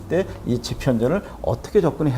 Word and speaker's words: 집현전: 다음에 jeon 이렇게 되겠죠 그러면 여기서는 지편 전 됐죠 여기서 집현전에서 여기 h가 들어갔거든요 이런 것들은 설명을 하지